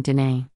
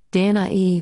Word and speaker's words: Danae: Pronounced Danae or Danae, English, Danae, Latin, and Danae, modern Greek.